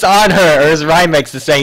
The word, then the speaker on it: Anhur: ya there I didn't used to call him in Newark I call him on her or on their bravery what break up the